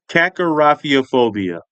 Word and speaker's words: kakorrhaphiophobia: Okay, we're going to go uh um um part by part. Hack Kakor rafiopobia. Kakarafiophobia. Okay. Kakarafiophobia. Yeah. Sound it out.